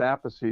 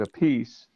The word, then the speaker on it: Appice: it looks like a piece but it's always pronounced apathy that's the way my father pronounced it call mine used to say apathy and when he started playing Rod Stewart he pronounced it a piece so he changed it to a piece and